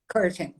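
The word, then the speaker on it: Courtin: A pronúncia correta é Robina Curtin, é isso? Curtin, é.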